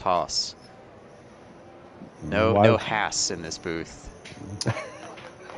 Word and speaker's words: Haas: Another American, so we both agree it's pronounced Haas.